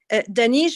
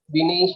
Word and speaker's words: Dinesh: Dr. Danish, I pronounced it correctly? Dinesh. Dinesh. Dinesh. Yes. Dinesh, yes. You're going to present the other speakers?